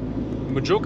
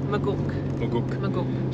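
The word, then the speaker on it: Maguk: Similar to the first campground we did at Majook. It's not pronounced Majook, is it? Magook.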